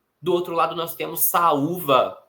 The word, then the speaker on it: saúva: Do outro lado, nós temos saúva e doído, também palavras que têm hiato. Nesse caso, o U formando hiato, sendo a sílaba sozinha e sendo a sílaba mais forte, né, a tônica, e doído também temos